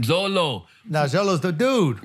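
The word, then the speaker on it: Xolo: do you pronounce that x o l o oh Zolo man Zolo now Zolo is the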